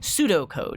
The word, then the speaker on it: pseudocode: are comments for myself or for other programmers pseudo code yes and that's that's how you would spell it not s-u-d-o p-s-e-u-d-o like pseudo-science but pseudocode